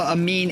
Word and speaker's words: Amin: And so we got Grigory Andreev up against Mustafa Amin in our top 8 battle for Group 2. Amin's how you say it properly, but Amine reminds me of Dorime, and it's funny.